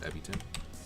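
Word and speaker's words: Ebitengine: Let me make sure I'm pronouncing that right. I think it's Ebiton.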